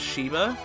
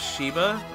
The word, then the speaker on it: Sheba: later in the game her name is Shiva or Sheva whatever you want to follow no she's not spelled like that it's a sh sh e ba not SH Y VA I was colored I always called her Sheba but not shatter shadow